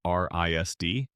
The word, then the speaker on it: RISD: After high school, Seth applied to the Rhode Island School of Design, known universally as RISD, pronounced Risd.